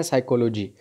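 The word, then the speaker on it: psychology: और इंग्लिश में उसको बोलते हैं साइकोलॉजी। पी जो है साइलेंट रहता है, तो डी ऑप्शन सही होगा।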